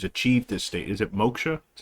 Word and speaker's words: moksha: is that as some goal that we call moksha or salvation whatever it is there's like many